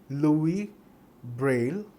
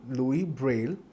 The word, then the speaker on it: Louis Braille: It is named after Louis Braille. Yes, the S is silent. Louis Braille, who developed it.